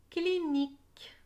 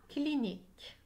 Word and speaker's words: clinique: la clinique à la clinique à accent grave la clinique clics et ses ailes collées ensemble qu'il y n'y les lettres qu est un ensemble font le sang et le e et muet à la clinique écrivez